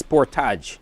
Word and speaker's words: Sportage: The pronunciation is Sportage.